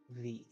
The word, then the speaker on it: Maksimov: So, It is Maksimov. so not, MAKS.